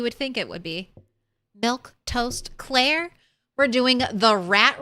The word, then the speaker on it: Milquetoast: I'm Milktoast Claire. That's how you say my name, in case you were wondering.